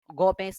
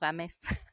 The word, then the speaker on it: Gómez: Gómez, not Gámez.